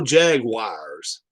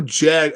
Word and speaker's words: jaguar: no end the jacksonville jaguars there's no jag it's jaguar jaguar is not that hard to say a jaguar the jaguars